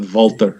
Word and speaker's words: Walter: Walter Walter no it is Walter but they pronounce it voltar yeah which is funny cuz that's how he